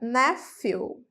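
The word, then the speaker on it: nephew: é o menino fica nefel nefel então esse PH é como se fosse um F NF nefel nefel nefel nef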